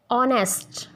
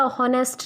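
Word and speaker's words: honest: एज इट इज़ in honour, ऑनेस्ट, honour, ऑनेस्ट, ये Honor या हॉनेस्ट नहीं होता।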